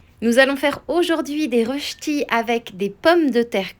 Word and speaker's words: rösti: Ça se prononce rösti et non pas rosti comme je peux l'entendre parfois.